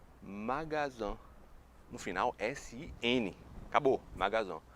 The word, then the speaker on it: magasin: É o seguinte, em francês, loja é magasin, magasin.